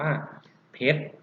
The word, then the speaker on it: เพชร: ท้าย นะ ครับ ทร ยก ตัว อย่าง เช่น คำ ว่า เพชร รับ ผิด เขียน แบบ นี้ นะ ครับ เพราะ อีก ช เพชร มา หรือ พ่อ เอก ดอก เพชร ก็ ได้ รอ เรือ ไม่ ต้อง ออก เสียง นะ ครับ หา ก็